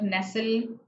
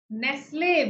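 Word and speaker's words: Nestlé: The symbol shows that you have to stress on it with the A sound.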